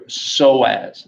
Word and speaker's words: psoas: One is you have your psoas, the P is silent. Opossum, I guess it'd be the opposite of that, right?